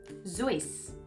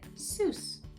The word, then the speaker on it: Seuss: just so interesting he had always pronounced his name in the German fashion voice but most of his readers said Seuss Ted like that this rhymed with Mother Goose so he started saying